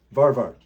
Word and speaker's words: Varvar: Not Pap wrapped. No, Varvar is the pronunciation.